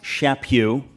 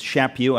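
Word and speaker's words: Chaput: It's pronounced Shappu. Nobody Nobody gets it right, but it's Shappu. I met him recently and he told me it rhymes with slap you. Shapu.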